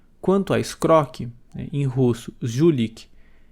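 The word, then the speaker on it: жулик: Quando eu era pequeno, pronunciava Zulik. Então, ele me parecia pequeno, forte e musculoso, e o som de Z era como o zumbido da mosca. Mais tarde, quando percebi como realmente se pronunciava a palavra, o sujeitinho que eu via cresceu.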